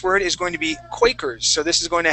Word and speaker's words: Quakers: uh the next word is going to be quakers so this is going to have a long a sound quakers quicker quickers with e with er quickers no it's going to be quay quakers quakers there you go quakers quakers quakers okay quakers